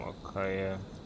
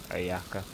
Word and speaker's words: Ayaka: I actually wanna use some Akaya. And just switch over to Akaya. Kamisato Ayaka, present. Ayaka, I don't. I totally always pronouncing her name incorrectly. Ayaka.